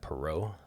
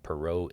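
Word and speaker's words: Poirot: Title is, I think you pronounce that, Perau. Perau Investigates.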